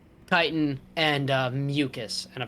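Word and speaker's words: chitin: techn I mean depending on where you're from it's kitan but kitan and uh mucus and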